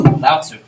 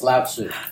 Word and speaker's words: Lao Tzu: There's no T. I don't see S-U-E for Sue. No, trust me. It's Lao Tzu.